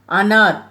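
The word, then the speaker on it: अनार: கொய்யாப்பழம் அம்ருத் கோவா கொய்யாப்பழம் அனார் அ நா ர அனார் இந்த கடைசியா மெய் எழுத்தா அதனால இர்ன்னு சொல்றேன் அனார் பொமிகல நேட் மாதுலம்பம் பழம்.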